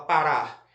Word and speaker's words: parar: para ou você fala parar você fala parar Então a sílaba mais forte é a última sílaba tudo bem olha aqui